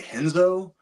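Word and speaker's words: Renzo: Jiu-Jitsu he's talking about in Portuguese R is pronounced H so it's hoist Gracie and henzo Gracie so it's kind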